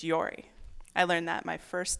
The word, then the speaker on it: Jori: Our next speaker is Yori Burnett, and Yori is spelled Jori. It's Yori.